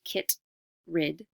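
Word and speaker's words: chytrid: causes since the 1980s the Kittredge pronounced get rid fungus has spread around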